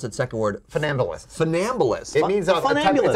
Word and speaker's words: funambulist: How do I pronounce it? Second word. Funambulist. Funambulist.